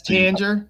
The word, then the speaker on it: Tanger: was exclusive yeah that's Tanger which is funny because some people call it Tang Tanger uh so it's pronounced Tanger like Tangerine um and dererk and